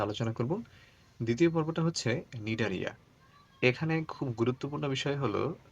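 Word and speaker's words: Cnidaria: শুরুর দিকটা একটু ঝামেলা নামটা হচ্ছে নিডারিয়া কিন্তু উচ্চারণের ক্ষেত্রে মনে হবে যে এটা তো এন দিয়ে শুরু হওয়া উচিত কিন্তু দেখবা যে এটা আসলে এন দিয়ে শুরু না এটা সি দিয়ে শুরু হয়েছে প্রথমে একটা সি তারপরে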